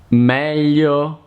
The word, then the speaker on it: meglio: Another hard combination to pronounce in Italian is gli, as in aglio, garlic, miglia, miles, meglio, better.